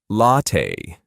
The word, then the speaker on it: latte: Latte. Latte. The correct American pronunciation for this drink is latte.